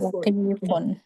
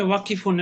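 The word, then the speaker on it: واقفون: এটাকে যদি কেউ উচ্চারণ করে ওয়াকিফুন, এটা কি সঠিক উচ্চারণ হলো? জি না, ইফুন ওয়াকিফুন ওয়াকিফুন।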